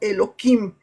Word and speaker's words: Elohim: Por ejemplo, la palabra Elohim tiene cierta letra que unos dicen, "No, nosotros no pronunciamos Elohim, nosotros pronunciamos Eloquim para quitarle esa letra y no vayamos a cometer algo eh inadecuado, ¿no?